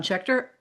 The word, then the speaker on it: Schechter: Well listeners out there we have just spent some wonderful time with the author Shear about his and I'm pronouncing your name correctly.